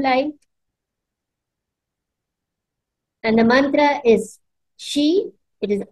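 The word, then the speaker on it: xi: nice beautiful blue light and the mantra is she it is x i we pronounce it as s i she okay keep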